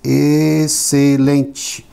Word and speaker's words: excelente: But we have words where the X is silent or is not pronounced. In words like excellent, excelente. This is the S. So we don't pronounce the X.